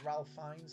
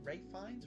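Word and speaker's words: Ralph Fiennes: it's called the menu with um it's got Ralph finds in it or finesse however you pronounced his name Ray fines Ralph finds the guy who played Voldemort and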